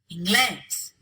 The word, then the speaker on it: inglés: They should be stressed on the second to last syllable, but they're not. We stress them elsewhere, so we have to write in the accent mark.